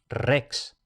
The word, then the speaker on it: rex: Y cuando aparece una sola R al principio de palabra, entonces se pronuncia fuerte como en español, rex.